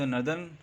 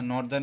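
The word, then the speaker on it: northern: The earth into the नर्दर्न hemisphere, means ऊपर वाला hemisphere, and सदर्न hemisphere. इसको साउदर्न या नॉर्दर्न ऐसे नहीं पढ़ा जाता है, इसको नर्दर्न और सदर्न इस तरह से प्रोनाउंस किया जाता है हेमिस्फीयर्स।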